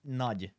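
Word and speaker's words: Nagy: You are the Hungarian. Yeah, it's nudge. Nudge. Nudge. Like nudge.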